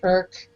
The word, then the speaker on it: IRC: an Alzheimer's test yeah it's Internet relay chat IRC okay everything on the internet says the same is oh we still say it's irk it's irk I mean it's like